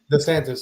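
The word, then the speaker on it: DeSantis: was it how do you say last name d santis DES santis so d santis this uh he's he this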